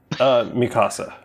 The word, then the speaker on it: Mikasa: But actually, is it Miska beats them all up? Mikasa. Mikasa, I keep saying it wrong.